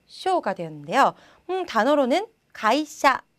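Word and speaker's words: 芸者: 단어로는 가이샤. 자, 가이시야가 아니죠. 가이샤, 샤 발음이 되고요.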